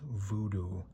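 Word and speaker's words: Woodoo: Here is Fulchie's Zombie, also known in Germany as Voodoo because they pronounce their W's as V. So, that's Voodoo.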